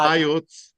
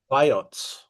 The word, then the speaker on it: Vayots: So here's and how do I pronounce the place? Voyat Vayots, Vayots.